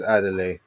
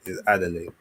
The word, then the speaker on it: Adeleye: But there's a certain twang you have to hit it. And I don't have that twang cuz I'm not I'm not Nigerian. But yeah, he's like, "No, it's Adelaide."